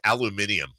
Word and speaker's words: aluminium: you don't even know how to pronounce aluminum yeah it's aluminium yeah I dude I'm